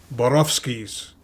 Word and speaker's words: Borowski's: neon arrow that said borowski's if you're polish that's how you pronounce it that that's where my